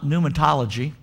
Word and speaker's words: pneumatology: the doctrine of pneumonia pneumatology you're going what in the world is pneumatology well it's new starting but it's spelt with a p then it goes into you pneumatology say that with me